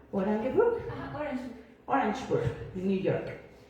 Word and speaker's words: Orangeburg: del Nathan clin institute en Ay cómo lo pronuncias orangeburg a Orange orangeburg New York y la otra en el New